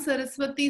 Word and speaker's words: सारस्वते: हाँ, भक्ति सिद्धांत सरस्वती से क्योंकि भक्ति सिद्धांत सरस्वती उनके गुरु थे, तो उससे आया सारस्वते. हाँ, हम सारस्वत हुए, सारस्वते देवे. हाँ, तो इसको करेक्ट प्रोनाउंसिएशन बोलना चाहिए, है ना.